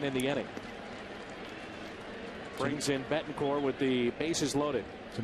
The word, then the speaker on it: Betancourt: Unieski, Betancourt, not Court. You forget about the T. We understand that, and he is from Cuba, but it is very distasteful to his family to pronounce the T.